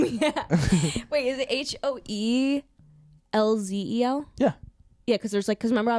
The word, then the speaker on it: Hoelzel: Wait, is it HOELZEL? Yeah. Yeah, because remember I was like, oh, is it Hoelzel? And you were Yeah. like, no, people think that's Hoelzel. Yeah, the L in the middle is silent.